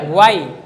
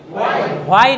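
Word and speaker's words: why: আমার সাথে বলেন ওয়াচ কি, ওয়েন কখন, ওয়ার কোথায়, হোয়ার বলবেন না, ওয়ার, ওয়াই, হোয়াই না, বলেন ওয়াই, ওয়াই কেন, হাউ কিভাবে, এখানে WH এইচ এর উচ্চারণ আছে।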